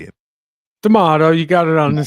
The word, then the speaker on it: DeMato: DeMato, you got it on the second one.